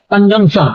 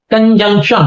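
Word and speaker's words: conjunction: और अगला है कंजंक्शन, एक बार फिर इसका प्रोनाउंसिएशन बता देता हूँ, कंजंक्शन, कंजक्शन नहीं होगा।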